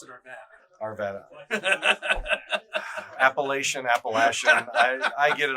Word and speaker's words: Arvada: Well, we pronounce it Arvada.